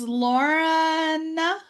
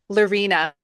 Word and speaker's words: Lorina: your host rain my guest today is Lauren did I pronounce that even close Lorina Lorina Lorina is dedicated to supporting High achieving